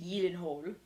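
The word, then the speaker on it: Gyllenhaal: I did just learn how to correctly pronounce Jake Yen hole Yen hole huhle gilen hole huh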